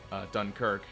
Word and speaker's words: Dunkirk: and France are attempting to escape a German-occupied Dunkirk, which is apparently how it's actually supposed to be pronounced.